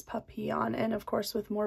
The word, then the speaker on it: papillon: that a lot of people who speak english say papillon but it is actually a french word that means butterfly and when i looked it up from that perspective is when i got the pronunciation papillon so like the y sound instead of the l's puppy on and of course with